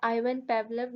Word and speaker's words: Ivan Pavlov: Conditioning was proposed by एवन पावलोव इन early 20th century, ठीक है। Pronunciation अक्सर different हो जाती है नाम की। तो वैसे यही है कि क्लासिकल कंडीशनिंग को जो है आइवन पावलोव ने अर्ली 20th सेंचुरी में प्रपोज किया था।